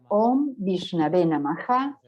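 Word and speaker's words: ॐ विष्णवे नमः: Om es una sílaba, Vi es otra, Shna es la tercera, Ve es la cuarta, Na y Maha, quinta y sexta en sánscrito. Om Vishnave Namaha constituyen 6 sílabas.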